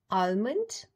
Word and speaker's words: almond: Next word is A-L-M-O-N-D. It's not almond, it's almond. L is silent.